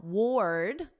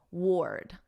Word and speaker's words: sword: Now, ward, this is like the past simple of the verb wear. Yesterday, I wore a sweater, and then you just put a very soft D. Ward, ward.